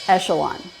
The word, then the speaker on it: echelon: In this case, it's the sh sound, not the k sound.